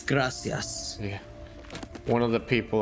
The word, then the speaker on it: gracias: I'm like, it's not fucking gaseous, it's gracias.